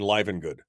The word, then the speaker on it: Live and Good: So anyway, so yes, yes, Brian, there's a long I in Live and Good. Live and Good. It looks like Living Good, but it's Live and Good. I don't know why. That's just how it works.